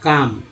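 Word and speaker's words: calm: LM में L silent है, उच्चारण होगा काम, यानी LM में L को नहीं पढ़ते हैं, सिर्फ M को पढ़ते हैं।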